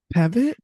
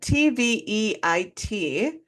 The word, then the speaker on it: Tveit: I don't know how to pronounce his last name. Tevitt? He, Tevitt? something like that. Tveit.